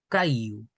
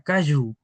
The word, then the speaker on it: kayu: Caiu. Recuerden que no tienen que pronunciarlo como en castellano. En castellano sería Kayu. Ese sonido hay que suavizarlo.